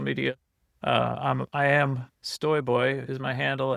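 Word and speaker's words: Stojboj: off of the uh the Polish pronunciation of J as a Y.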